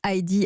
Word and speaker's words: ID: Alors on dit ID à l'anglaise, mais ça s'écrit ID.